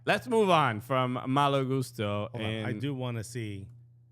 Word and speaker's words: Malo Gusto: And by the way, in Portuguese, it's Mau Gusto.